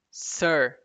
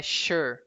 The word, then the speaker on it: sure: A pronúncia não é sir, é sure.